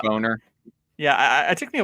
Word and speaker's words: Boehner: Boner. Yeah, it took me a while to realize how the fuck you pronounce his name.